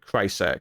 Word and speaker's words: Krycek: I'll go with Krycek. That's how you pronounce that.